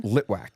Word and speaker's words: Litwack: Litwac. Litwac.